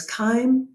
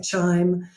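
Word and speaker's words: chyme: food that you've eaten the resulting mixture is kind of like a cream of mushroom soup and it is highly acidic it's got a pH of around 2 and it is known as kind I do not know why it's pronounced when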